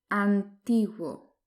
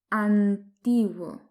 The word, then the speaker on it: antiguo: Antiguo. Antiguo. Remarquez qu'on ne prononce pas antiguo. On dit antiguo. Antiguo au lieu de antiguo.